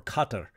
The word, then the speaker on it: Qatar: I had a student; she was getting married, and she was like, her fiance was from Qatar, or Qatar is how it's supposed to be pronounced.